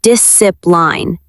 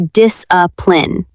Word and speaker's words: discipline: Discipline. The letter C is silent. We do not say discipline. We say discipline.